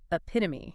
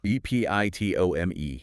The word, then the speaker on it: epitome: Reading it cold, you might say epitome, stressing that last syllable. But that E on the end is silent. It's actually pronounced epitome. With the stress on the pit. Stress on the second syllable.